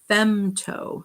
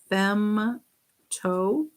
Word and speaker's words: femto: the way negative 15 this one is femto starts with an f fem toe and that's capital f